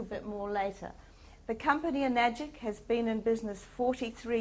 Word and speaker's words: Enagic: Now, it's very easy to remember the name Enagic because it rhymes with... Thank you. Not tragic, that one person once said. The right answer is definitely magic, and some people call this magic water.